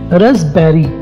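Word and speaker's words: raspberry: इसे कहते हैं उर्दू में रसभरी, और रसभरी की इंग्लिश है रसबेरी, RASP रस BERRY बेरी। इसमें जो पी है वो साइलेंट है, ठीक है, रस बेरी रस बेरी।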